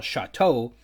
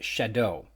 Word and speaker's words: Chateau: I can say that I've been incorrectly pronouncing the Montana locality and chapter title Chateau like some sort of francophony and stinking Canadian might, when it's actually pronounced Shadow.